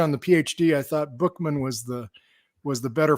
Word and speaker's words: Buchman: you thank you uh you're using the French pronunciation of my last name Bushman my my dad pronounced it Buckman but my grandparent parents